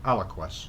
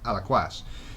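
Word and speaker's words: Alaquàs: I went to Alaquas, which I pronounced wrongly Alaquas when I spoke to my son. He said, no, it's Alaquas, because he's got a friend who lives there.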